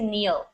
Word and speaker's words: kneel: you saying you saying the K is silent you don't say the K just meals what does it mean to kneel a boom or uh